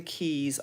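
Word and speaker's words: Caye: so they have these Keys it's it's spelled c a ye so it looks like K but I'm pretty sure it's pronounced key so we're on Amber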